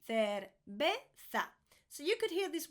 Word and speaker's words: cerveza: And make sure you're pronouncing the double L again. Quesadillas. Quesadillas. 17. Cerveza.